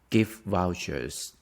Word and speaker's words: gift vouchers: You don't need to pronounce the T here. So it's gonna be gift vouchers. Gift with the F. Gift vouchers. Vouchers. The stress is on the first one.